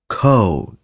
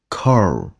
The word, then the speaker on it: cold: vậy nha các bạn phải đọc lạ cold và nhất định không được đọc là Core chữ này tuyệt đối không được cong lưỡi nha các bạn thấy mình